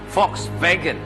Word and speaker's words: Volkswagen: siyang uwian ang Volkswagen O kung i-pronounce sa mga German ay Volks vagen ay may Literal na